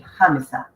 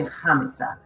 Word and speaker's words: Khamissa: it's gonna be pronounced Khamissa. So the H is silent, but they will say Khamissa, and Khamissa in Arabic means actually the 4th.